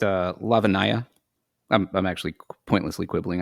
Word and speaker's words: Lavanya: So, Josh, after you, Lavana Lakshmaran. Yes, nailed it. That's my audiobook person pronounced it.